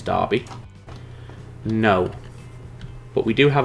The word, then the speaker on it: Derby: It's Derby. It is not pronounced Derby. Trust me, it is Derby.